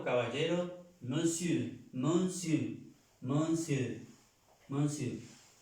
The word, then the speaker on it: monsieur: Señor o caballero, monsieur, monsieur, monsieur, monsieur. Pero yo escucho y dicen monsieur, monsieur. Si uno dice monsieur, ¿entienden? Monsieur, pero es monsieur, monsieur.